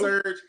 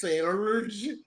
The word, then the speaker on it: Serge: is not Surge, it's Surge. You gotta pronounce it right.